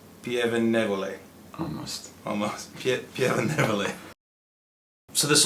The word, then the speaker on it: Pieve Nievole: It's called Pieve Nievole, which is very difficult to pronounce for people that are not from Italy. Let me try. Okay, what's the name? Do that. Do it. Pieve Nievole. Pieve Nievole.